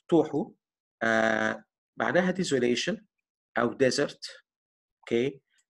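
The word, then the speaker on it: תֹהוּ: ادي الكلمه اهي، وادي نطقها توحو، معناها desolation او desert.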